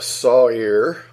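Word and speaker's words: שָׂעִיר: word site here which is sa I are pronounced Sawyer that's strongest number 81 63 a he or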